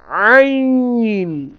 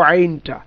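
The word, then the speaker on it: ع: হা এবং আইন একই জায়গা থেকে উচ্চারিত হবে, কণ্ঠনালীর মধ্যভাগ হতে। তাহলে আমরা যেমন আলহামদুলিল্লাহি রাব্বিল আলামিন, আমি একদিক থেকে শুনবো আইনটা।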